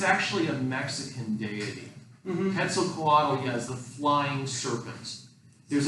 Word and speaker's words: Quetzalcoatl: Quetzalcoatl. Quetzalcoatl.